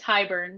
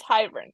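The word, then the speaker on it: Hybern: beening it wrong time it's hiburn we've been saying it wrong this whole time hiburn okay that's what I thought but hiburn sounds better it does but I thought it was hyn okay anyways um and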